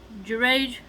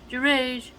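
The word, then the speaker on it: Juraij: who was a pious person so that name is spelled j u r a i j girage took a secluded monastery for worship and confined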